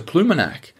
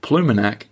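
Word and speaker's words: Ploumanac'h: to caucus on we even got up to pumac a town with remarkable pink Granite beaches not to mention the remarkable apostrophe in its name and for you guys listening pumac this is how it's spelled p l o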